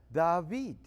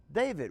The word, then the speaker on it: David: this door and in so doing you you pronounce that David okay it could be David which means to give love out or give affection out but David says it's a recipient of the love David we say David however in Louisiana we often